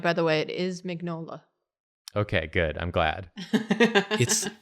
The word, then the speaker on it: Mignola: From what I can tell from the pronunciation guide, by the way, it is Mignola.